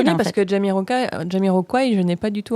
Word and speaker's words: Jamiroquai: Parce que ça se dit Jamiroquai. Ouais, je m'en Mais doutais, mais j'aime bien prononcer les choses à la française. À la française. Sachant qu'ils ne sont pas français, donc c'est bien Jamiroquai.